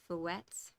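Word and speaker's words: fouetté: And I love the word, is it fouettes? Is that how it's pronounced?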